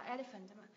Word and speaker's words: elephant: này viết là elephant từ này đọc là elephant tức là nhấn tiết thứ nhất nhấn tiết thứ nhất có ba â tiết này elephant elephant elephant nhấn tiết thứ nhất em ạ elephant Sao chị không